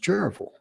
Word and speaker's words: Cherryville: It's spelled Cherryville, Cherryville, there in North Carolina. But back there, it's not pronounced Cherryville. It's pronounced Cherryville.